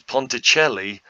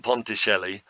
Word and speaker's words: Ponticelli: to last the game jordan ponticelli i hope i'm saying it right with a little bit of an accent on the c um he goes to